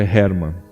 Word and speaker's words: Herman: Alguns falam Herman, outros falam Herman, mas a pronúncia, eu acho que mais correta é Herman.